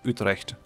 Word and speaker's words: Utrecht: So if we wait until Utrecht falls over here, I should not mix the English and the Dutch pronunciation. I should just say Utrecht.